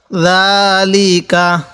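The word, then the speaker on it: ذَٰلِكَ: দাল খারা জবর দা, লামজের লি, কাব জবর কা, যালিকা যালিকা।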